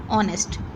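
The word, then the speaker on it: honest: ये स्टार्ट तो होता है एच से, लेकिन इसको हम एच को साइलेंट लेते हैं और इसको पढ़ा जाता है ऑनेस्ट.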